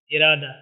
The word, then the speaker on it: ارادہ: جاتی ہے، سائلنٹ ہے۔ اسی طرح ارادہ میں، ٹھیک ہے، دال کے اوپر ہمارا تلفظ ختم ہو جاتا ہے اور یہ ہا پڑھنے میں نہیں آتی، ارادہ، ٹھیک ہے۔ دوسری بحث یہ ہے